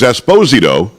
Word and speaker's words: Esposito: Ernie Hudson, you heard from him earlier, had Giancarlo Esposito, who told me it was Esposito. He went to Naples, and they said you're pronouncing it wrong, and we had him on as well.